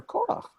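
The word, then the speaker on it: כוח: That wasn't true, by the way, up here for koach. Did you notice that? It wasn't koach, it's koach. The reason is that little was originally really not heard of as a vowel.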